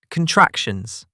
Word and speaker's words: contractions: Today's word, contractions. 4 syllables. Contractions. Stress on the second syllable.